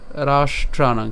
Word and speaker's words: রাষ্ট্রানাং: রাষ্ট্রানাং, খেয়াল করেন আমি রাস বলছি, রাস কিন্তু বলি নাই।